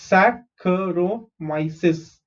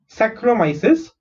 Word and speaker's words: Saccharomyces: Saccharomyces. Okay, SAC sac, CH is kh, RO is ro, MY is my, CES is cis. Saccharomyces cerevisiae.